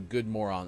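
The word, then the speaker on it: god morgon: Axe said we actually say something similar to good moron, although it is spelled good Morgon, but the G in Morgon is silent. So it basically comes out to be top of the moron.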